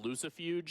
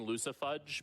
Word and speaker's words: Lucifuge: This is, I think it's supposed to be pronounced Lucifuge. I like saying Lucifudge because it makes me hungry.